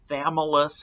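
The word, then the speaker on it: Chthamalus: two species of barnacles thus is how you pronounce the small one it's got a silent CH uh the balanus is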